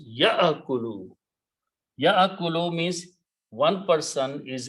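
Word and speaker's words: يأكل: So this will become ya'akulu. In this case, kaf carries a dhamma. So ya'akulu, do not pronounce ya'akulu. It's a hamza. Alif is not to be pronounced. Ya'akulu.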